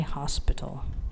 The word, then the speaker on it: hospital: child and honor however hospital has a pronounced H so it's a hospital because you pronounce the